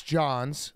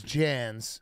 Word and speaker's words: Jans: I was calling him Chris Johns. Mm-hmm. His name is Jans.